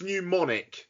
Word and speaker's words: Mnemonic: How were you pronouncing Johnny Mnemonic earlier on? Pneumonic. It's pneumonic.